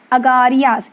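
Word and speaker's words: Agariyas: The pronunciation is Agarias. It's there in the textbook.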